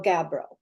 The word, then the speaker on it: Gabbro: And its technical name is, let's see where I put that down, Indigo Gabbro.